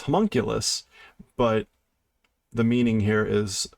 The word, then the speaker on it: homunculus: one thing and being told another so it's homunculus but the meaning here is a dwarf inside